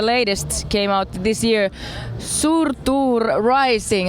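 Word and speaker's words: Surtur: last album the latest came out this year surur Rising how do you pronounce that perfect surur and surur is a fire giant who sets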